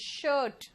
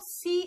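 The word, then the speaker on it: shoe: जूते जो होते हैं वो शूज होते हैं, एक जूता को क्या कहेंगे? इट्स शू। सू नहीं होता ये, इट्स शू।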